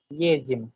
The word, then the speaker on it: едем: Едем, ठीक है, इसकी प्रोनाउंसिएशन едем होती है।